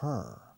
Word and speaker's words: her: Ella, para ella es for her. Her es como quitar la T a hurt.